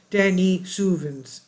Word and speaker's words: Denisovan: with another close relative known as the Dennis sovin pronounced Denny suin okay Dennis sens now